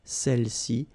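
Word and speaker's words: celles-ci: Feminine plural, celle-ci, okay, don't pronounce the final S, celle-ci, celle-là, all right?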